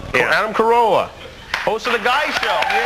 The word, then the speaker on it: Carolla: pronounce the last name it's the same as the car and uh Corolla Adam Carolla host of the guy